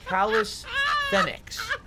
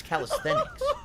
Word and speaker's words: calisthenics: go we're going to go callous thenx i thought these would be calisthenics it's calisthenics so i was saying it wrong all these years yeah i'm gonna